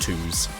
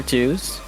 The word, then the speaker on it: 2zz: a Maggie against 2Z I think it's pronounced twos oh twos okay yeah fair enough